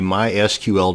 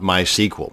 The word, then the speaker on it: MySQL: And yes, it's pronounced MySQL, not MySQL. So the next time you're at a dinner party discussing databases, and frankly, why would you be at a dinner party discussing databases? But that's a different story altogether. Now you won't sound so much like a dork. It is pronounced MySQL.